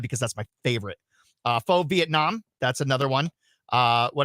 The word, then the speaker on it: pho: it's not pho, it's pho. It's pronounced pho.